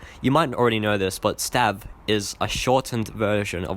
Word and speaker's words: Stav: Would you pronounce it Stave or Stav? Personally, even if you've already heard me say Stav, just look at it and think, I'd say Stave.